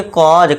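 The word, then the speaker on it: cause: इस तरह से क्या पढ़ेंगे, कॉज, काउजे नहीं कॉज, क्योंकि देखिए दोस्तों सी के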